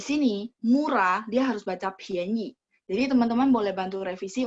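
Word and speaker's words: 便宜: Jadi P baca PH. Pianyi itu murah ya. Ini karena dari sistem, jadi sistem itu dia cuma dimasukin satu perintah sehingga dia keluarin oh huruf ini ya bacanya ini. Dia nggak tahu bahwa huruf ini sebenarnya dua baca. Jadi kalau ketika gabung sama I, pianyi, dia harus baca P-I-A-N. Bacanya PH ya, bunyinya.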